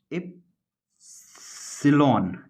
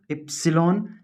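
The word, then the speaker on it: epsilon: ये प्रोनाउंसिएशन होगा क्या? एप्सिलॉन। क्या बोलेंगे इसको? एप्सिलॉन।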